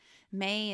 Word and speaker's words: Mei: May is actually spelled MEI, but in my notes I had to spell it MAY. Yeah. Otherwise I was going to be like mispronouncing it probably each time, or calling her Mai or something.